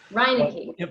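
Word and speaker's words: Steven Reineke: tyler grant or brian balmages yeah or steven raynick am i pronouncing that correct reinecke but yeah let me take this just for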